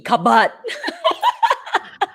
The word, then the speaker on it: cupboard: bought okay not cupboard you would pronounce cupboard as c-u-b-b-a-d cupboard how do you say